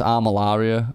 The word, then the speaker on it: Armillaria: That's Armillaria, by the way.